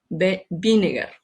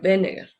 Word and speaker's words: Wegener: La W en varios países europeos se pronuncia como B corta, entonces Wegener. Algunos incluso le dicen Vinegar, pero es Benneger.